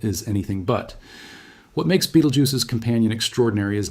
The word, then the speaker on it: Betelgeuse: Betelgeuse itself, which most English speakers pronounce to rhyme with juice, actually comes from an Arabic phrase meaning something close to the hand of the giant.